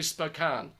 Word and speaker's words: Spokane: I didn't get to Boise, but I did get to Spokane. So I think that's the correct pronunciation. I'm not quite sure. That is correct.